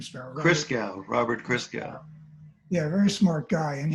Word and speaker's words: Christgau: I also was reminded from something I was looking at today that a music critic, how does he pronounce his name, Sparrow? Robert Christgau.